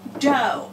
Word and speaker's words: dough: over here we have dough now I know that looks like do but it's not it is dough because it is a